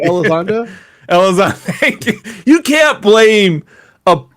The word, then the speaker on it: Elizondo: It's so fucked up, but his name rhymes with it. Elizondo.